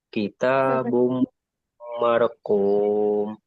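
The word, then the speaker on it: كتاب مرقوم: Jadi bumnya dibaca panjang kitabum. Tapi begini bacanya ya. Bukan kita mentang-mentang bomnya itu mulutnya agak maju. Bum ga. Jadi dibacanya setelah bum bunyi emnya itu kembalikan ke seperti biasa kitabum marquum. Jadi gitu cara bacanya.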